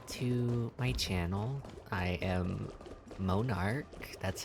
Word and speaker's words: Monarch: I am Monarch, that's how it's pronounced.